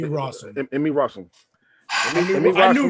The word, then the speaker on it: Rossum: I know I'm probably gonna say her name wrong, but Emmy Russell. Emmy Rossum.